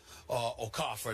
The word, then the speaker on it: Okafor: Listen, Karl Anthony Towns and Jahlil Okafor, Okafor, that's the way to say his name is pronounced.